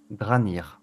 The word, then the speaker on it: Dranir: Donc, C'est Dranir son nom? Dranir, ouais, comme ça se prononce, D-R-A-N-I-R.